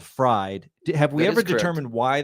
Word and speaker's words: Fried: Well, it's German, so you pronounce the second vowel. So that's I don't know why, but that's the reasoning. So you pronounce the E because it's IED.